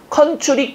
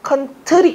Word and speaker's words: 컨트리: 컨츄리 꼬꼬 아니죠. 컨트리 꼬꼬입니다.